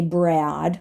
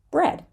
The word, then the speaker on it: bread: even there aesthetic aesthetic the word bread we do not say Brad right we just imagine that this a is not there so it sounds like bread the next word maybe